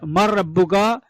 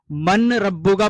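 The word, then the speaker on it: مَنْ رَبُّكَ: Formula اور سمجھ لیجئے، نون ساکن کے بعد اگر را آتا ہے تو نون کا تلفظ نہیں کیا جاتا، بلکہ نون سے پہلے والے حرف کو سیدھا را سے ملا کر پڑھا جاتا ہے۔ جیسا کہ اس مثال میں اگر ہم من ربو کا پڑھیں گے تو یہ غلط ہو جائے گا، میم کو را سے ملا کر پڑھا جائے گا، نون کا تلفظ نہیں کیا جائے گا۔ یہ کیا ہے؟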